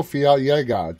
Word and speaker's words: Fiallega: live and tonight we have with us rodrigo fialga did i pronounce that right that's exactly how it's pronounced